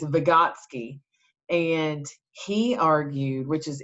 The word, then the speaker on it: Vygotsky: how it's spelled it looks super scary to pronounce it uh but it's vygotsky and he argued which is interesting a lot